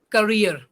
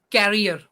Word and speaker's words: career: wrong vocabulary for example the word is career career counseling but what we are pronouncing carrier so this is the